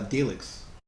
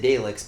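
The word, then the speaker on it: Daleks: droids look like uh delix they really do i was seeing that too but i like that i said it wrong didn't i you did you said dalex but it doesn't matter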